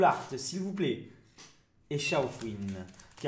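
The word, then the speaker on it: Shaofouine: Il y en a qui disent Chaofouine, pour moi c'est Chaofouine, hein, je le dis directement. Normalement c'est Chaofouine. Je comprends pas pourquoi on dirait pas, enfin pourquoi on dirait Kaofwin, mais bon, écoutez, chacun prononce comme il veut finalement, c'est pas très grave.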